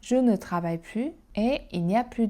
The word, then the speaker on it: plus: Quand il s'agit d'une phrase négative avec ne plus, on ne prononce pas le s. Je ne travaille plus et il n'y a plus de monde.